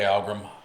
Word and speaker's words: Algrim: Okay, Algrim, right?